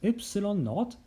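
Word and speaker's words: ε₀: them in unit meter this symbol pronounced as epsilon naught is a constant called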